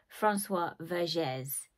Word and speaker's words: Françoise Vergès: more of it, is A Decolonial Feminism by Françoise Vergès.